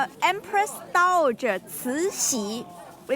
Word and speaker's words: Cixi: Yeah, this lady is called Empress Dowager Cixi. We call it Dragon Lady. Cuéntenme si ustedes pueden pronunciar eso porque yo no puedo.